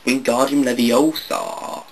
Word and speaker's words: Wingardium Leviosa: You're saying it wrong, Harry heard Hermione snap. It's Wingardium Leviosa. Yes, I've seen the movie. Make the gar nice and long.